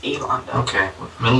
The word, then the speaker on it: Elaunda: It's like Yolanda, but it's Elanda.